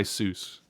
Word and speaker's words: Seuss: a german name the the eu is pronounced like oi traditionally but things get anglicized it he went by seuss and here's the here's